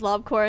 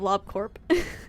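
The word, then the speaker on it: Lobcorp: We're talking We're current tangent about why I pronounce Lobcore as lobcore instead of lob corp. And it's because I mix up the words corp and core.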